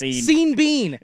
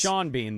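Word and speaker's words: Sean Bean: Scene Bean. Famous actor Seen Bean dies in everything he's in. It's Shawn Bean, though.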